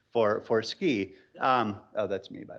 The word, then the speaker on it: SCI: hard sea we thought going' Be Clever to pronounce it ski plus we were in Utah and but just